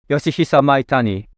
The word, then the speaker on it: Yoshihisa Maitani: The Olympus OM-1, of course, was Yoshihisa Maitani's masterpiece from 1972. I think I really butchered the name, so Takahiro, tell us how it's really pronounced. Yoshihisa Maitani.